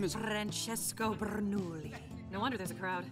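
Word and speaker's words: Bernoulli: Francesco Bernouli. No wonder there's a crowd. Wait, why do you know his name? I don't say it like that. It's 3 syllables, not 10.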